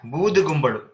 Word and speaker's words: Bood Gumbalu: Yeah, Bood Gumbalu. Right? Kumbala is the word. Kumbalu, but on Sandhi, the ka becomes ga.